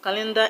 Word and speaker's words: calendar: I mean is that calendar is a noun so the stress will go to the first syllable all right guys so